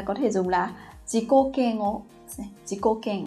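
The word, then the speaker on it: 嫌悪: Thường thì mọi người có thể nhầm và đọc là keng ak này. Thế nhưng mà chữ ak trong cái trường hợp này chúng ta không đọc là ak mà các bạn sẽ đọc là keng o.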